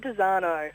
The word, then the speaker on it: Dezarnaulds: Look, it's Dezarnaulds, so it's as if it had no on the end, but yeah, there are a whole lot of letters, but not much.